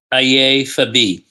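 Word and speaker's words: Aiye Fabiyi: And all right, your last name is F-A-B-I-Y-I. That's correct. Okay. That's correct. How do you say your name? Fabi? Aye Fabi.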